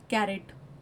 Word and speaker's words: caret: गाजर वाला कैरेट नहीं, CARROT वाला कैरेट नहीं, CARET वाला कैरेट. दोनों की प्रोनाउंसिएशन सेम होती है.